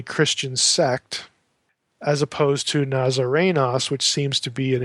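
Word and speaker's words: Ναζαρηνός: Now, Jesus is elsewhere called a Nazarenos. Notice there's no long O there. Nazarenos, Luke 4:34, Luke 24:19.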